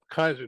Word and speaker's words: Keyser: a really interesting guest molly kaiser with us kaiser did i pronounce it correctly you sure did good my